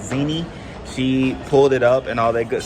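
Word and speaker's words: Zena: I think she said you pronounce it Zini.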